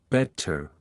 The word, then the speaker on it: better: Unlike American English, the T is pronounced crisply in British accents. Better is pronounced with a clear T, like better, round your vowels.